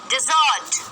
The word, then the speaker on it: desert: डिजर्ट, ये है डेजर्ट। डेजर्ट रेगिस्तान। ये है डिजर्ट। डिजर्ट मिठाई।